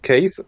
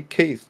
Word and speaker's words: Keth: And then like that, I'll play with them for like a month or two, and then they go, "You don't say Keith, do you?" And no, it's Keith.